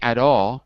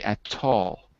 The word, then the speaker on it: at all: no problem at all notice i say at all with because i'm american if you were british you would stay at tall but here i'm gonna